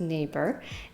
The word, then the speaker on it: NAEBER: great terror branch's reign neighbor pronounced neighbor is a way for